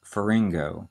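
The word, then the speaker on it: pharyngo: the word part for throat hasn't changed it's faringo n p-h-a-r-y-n-g slash o after the throat we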